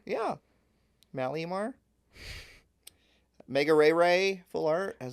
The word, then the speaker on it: Malamar: We got Mega Malamar or Malmar. We're just going to take that A right out of there. Yeah. Malamar.